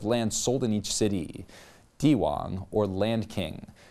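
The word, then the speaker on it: 地王: sold in each City dwang or land King the moniker is pronounced exactly the same as one Chinese term for Emperor implying this piece of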